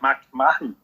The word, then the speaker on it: McMahon: on the jimmy show and we've got mcmahon is that how you say it mcmahon yeah people pronounce the different all time like man mcmahon